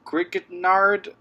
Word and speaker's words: Grignard: get to it the grignard reaction it's probably pronounced Cricket nard but really most of us aren't that German it's an amazing reaction